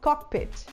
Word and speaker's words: cockpit: A gente usa um O de vovó, o mesmo O que a gente usa em vovó no final, e a gente fala cockpit.